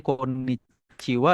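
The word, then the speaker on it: こんにちは: Kenapa dibacanya wa ya? H di sini awalnya adalah partikel ya. Makanya dia dibacanya konnichiwa.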